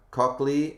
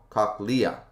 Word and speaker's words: cochlea: to be that guy but uh cockley would be pronounced lee ah oh cochlea instead of cockley all right hey you